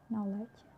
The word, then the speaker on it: knowledge: So K is not pronounced when it comes before an N, like knife, knee, knock, not, knowledge.